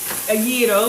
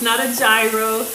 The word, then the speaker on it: gyro: So I'm just making some gyros on pita bread, and that is the pronunciation, a gyro. It's not a gyro, not a gyro. The G is silent. It's a soft G.